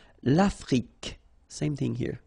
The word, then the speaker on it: Afrique: L'Afrique, same thing here. Final E, it's only the K at the end that you will hear. L'Afrique, okay?